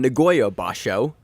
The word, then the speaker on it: Nagoya basho: off with a little bit of sumo then Nagoya ba show began this week is that correct Josh yes